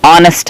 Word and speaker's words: honest: okay but actually Hotel honest man here in all the cases it is silent and it produces actually the sound vowel so that we are